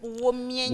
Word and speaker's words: Womienyon: J'ai bien prononcé cette fois-ci? Ah oui, tu as bien prononcé. Womienyon. Womienyon. Voilà, bon, c'est mieux quand vous le dites.